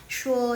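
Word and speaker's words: 说: Shuo, ini bacanya shuo. Shuo itu berkata yang berhubungan dengan mulut.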